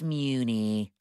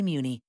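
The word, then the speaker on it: Mewni: wear a cape look I'm sure everybody on Moony wore a cape Muni it's pronounced Muni Marco I'm just trying to help and I'm just trying to help you properly say Muni plus aunt Hasan's it's pronounced plus Sun hey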